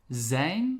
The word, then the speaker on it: zijn: that is he she it is we have zayn so we are um zane so you are but in the plural and